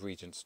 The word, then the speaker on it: Regent: Here we are with Regent's Treat. Or that headline doesn't really work because I'm reliably informed that it's pronounced Regent.